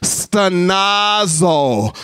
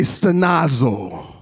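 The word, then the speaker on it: στενάζω: What the word sigh actually in Greek, it means stenazo. So everybody say stenazo.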